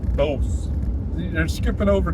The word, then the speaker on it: Bouse: It's spelled B-O-U-S-E. Yeah, so I mean, Bouse? boys is what I think. Bouse? Because like the E changes the. Changes the O. Why would it change the O? Bose.